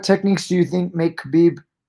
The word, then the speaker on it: Khabib: do you think make khabib or habib numerometer i always sound calm khabib i go back and forth sorry guys i know the k is silent but either way so